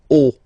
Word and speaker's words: haut: Okay, final T not pronounced, and then this H as previously, you don't pronounce it, so this is haut.